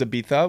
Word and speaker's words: Ibiza: But if the proper way to pronounce it is Ibiza, which I don't know where necessarily you get a TH out of a Z.